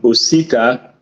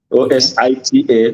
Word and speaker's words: Osita: pronounce your name so my name is pronounced um osita o-s-i-t-a osita and my last name